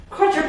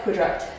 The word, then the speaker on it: quadruped: going to do some quadruped holes I've always used to call these the wrong name I used to pronounce it wrong here's quadruped it always looks like quadrupt to me what we're going